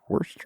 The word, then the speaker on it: Worcester: Worcester. Yes, Worcester. not spelled that is the way you would pronounce it, but yes. Yeah, the R is silent.